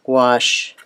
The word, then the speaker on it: gouache: G-O-U-C-H-E is pronounced gouache.